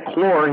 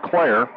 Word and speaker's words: Clare: Now, Lacey pronounced her name Clore. He said he prefers Clare.